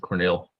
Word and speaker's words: Cornel: Just pronounce it Cornel. That's really what it's should be.